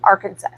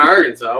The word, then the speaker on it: Arkansas: truck it would be going in is in Arkansas or Kansas." Arantis. So then pick up the motor when you come down to Arkansas.